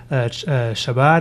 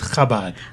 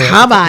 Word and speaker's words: Chabad: That it's not Shabbat, it's Chabad. Oh, okay. But it's okay. I stand corrected, or I sit corrected. Say it again. Chabad. So Chabad. It's like Hanukkah. Like challah. Chana, like challah. Like challah. Then I understand Chabad.